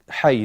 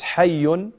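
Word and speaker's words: حي: Hay, نعم. It's hayyun, this area, but if you stop, you say hay, hay al-matar, and so forth.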